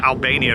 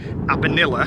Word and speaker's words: Abanilla: pronounce it properly cuz I said Albania earlier and it's not it's deserto de abanilla that's what I said